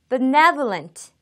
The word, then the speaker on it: benevolent: benevolent. benevolent. benevolent. 강세가 네, 여기에 와 있죠. benevolent.